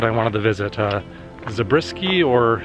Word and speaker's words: Zabriskie: wanted to visit uh zabriskie or zabraski it's spelled like zabriskie but i've heard people pronounce it zabrasky i don't know you